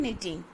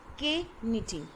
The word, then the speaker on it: knitting: The next comes in knitting. It's knitting, not K knitting. So here the K word is silent. So it's knitting.